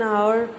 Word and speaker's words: hour: Next, in some words the first letter H is silent and the word gives a vowel sound. Such words take an before them, such as an hour, an honest man, an hire, etc.